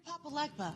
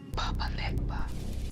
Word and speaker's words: Papa Legba: You're Papa Legba. Papa Legba.